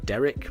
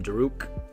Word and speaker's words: Daruk: what it is, um they often think that my dog is called Derek rather than Daruk. So no matter how many times I pronounce it Daruk, um they end up calling him Derek.